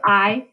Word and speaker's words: ay: on our side if I say yes okay if the law is on our side say yes so I a wide means yes and it's not pronounced a it's pronounced I tis well bow art